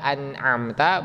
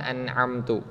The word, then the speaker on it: أنعمت: Nah, kemudian di huruf ta-nya kita tahu di situ ada fathah, harus disempurnakan bacaan fathahnya, dibaca an'amta bukan an'amtu.